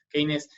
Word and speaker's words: Keynes: De hecho, un muy reconocido economista, Keynes, para pronunciarlo castellanizado, Keynes estuvo como representante en